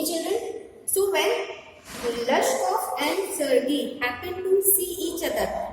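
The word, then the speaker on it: Sergei: Okay, this is being pronounced as Sergey. Clear? It is a French word and it is being pronounced like Sergey.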